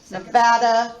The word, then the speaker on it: Nevada: So our answer would be Georgia, first syllable, Massachusetts, third syllable, Nevada, second syllable, Iowa, first syllable.